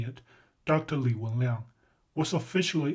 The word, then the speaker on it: Li Wenliang: Leigh Whannell was officially pronounced dead from the infection of corona virus